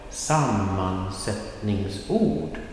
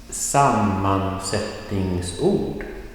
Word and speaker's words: sammansättningsord: Well, the first thing to remember, in such a long word, sammansättningsord, there will be not only one stress point, there will be two, but never more than two stress points.